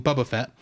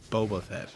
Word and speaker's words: Boba Fett: first appearance of uh as you call him Bubba Fett Boba Fett yes yes but that's not how you pronounced it earlier yes I I I have